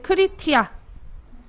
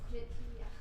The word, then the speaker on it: criteria: 조건과 그 조건이 속한 필드 크리티아. 써줘야지 네이버에. 발음이 안 돼. 그래서 저는 크리티아라고 하는데 크리티아가 아닐걸? 기준. Criteria. 이거예요. 맞네요. 크리티리아.